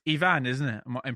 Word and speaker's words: Iván: It's Ivan, isn't it? I'm pronouncing it right. Yeah, it's correct. Ivan. It's got an accent on the A.